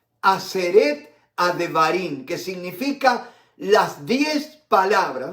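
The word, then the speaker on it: עשרת הדברים: Y yo lo he escrito acá para pronunciarlo bien. Aseret Adevarim. Aseret Adevarim, que significa las 10 palabras.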